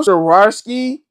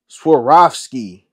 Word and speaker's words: Swarovski: bro I always the swasi what how you pronounce it bro sari the sari am I saying that right what Swarovski Swarovski Swarovski plug when I need him he